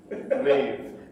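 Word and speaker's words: Maedbh: Maeve.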